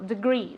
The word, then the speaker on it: degrees: With accent on the last syllable, degrees, okay?